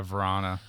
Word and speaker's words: Vrana: Yeah, Vrana.